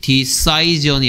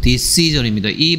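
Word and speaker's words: decision: 다음에 결정하다 결정 디시즌입니다 발음은 여기에 아이의 발음이 동사일 때는 디사이드라고 해서 아이가 아이 발음 나오고 있는데요 명사할 때는 바이에 발음이 desizen이 아니고 dc전입니다이 발음으로 바뀌어요 decided this 시즌 그러니까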